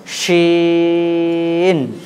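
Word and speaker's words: شين: চলেন তাহলে দেখেন, এই অক্ষরটা উচ্চারণ করতে গেলে জিভের মধ্যখান ওপরে তালুর সঙ্গে লাগাতে হবে, উচ্চারণটাকে লম্বা করতে হবে। হ্যাঁ, জিভের মধ্যখান ওপরে তালুর সঙ্গে লাগিয়ে উচ্চারণটাকে লম্বা করতে হবে এবং আওয়াজটাকে মোটা রাখতে হবে।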